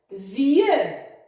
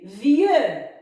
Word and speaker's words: vieux: Vieux, le X à la fin, muet. Et le son ye s'écrit I-E-U. Vieux.